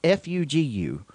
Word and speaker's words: fugu: It's kind of like the clothing brand from the 90s, Fubu 05. Yeah. Oh, yeah. Well, this is Fugu. Yes. I think you said it right, actually. Okay. With an extra emphasis on the latter U, Fugu.